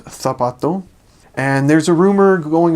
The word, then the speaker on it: zapato: lisp, but it means whenever there's a C or a Z letter, and the C makes a S sound, then you pronounce it kind of as we would in English, the, almost. So an example is heart is corazón, shoe is zapato.